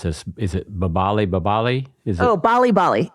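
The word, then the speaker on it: 빨리빨리: you discuss and I don't know how you pronounce this is it babali babali is it oh Bali Bali yes Bali Bali uh hurry which is translated what hurry hurry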